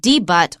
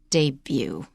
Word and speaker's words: debut: The second thing is, very often the final consonant is not pronounced. So it's not debut or debut, it's debut.